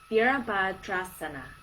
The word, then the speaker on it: Virabhadrasana: Virabhadrasana.